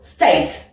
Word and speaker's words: state: Si un mot a une seule syllabe, alors c'est tout le mot qui est accentué. Comme dans le mot state. Tu vois, j'accentue, je mets un coup de peps comme ça sur tout le mot.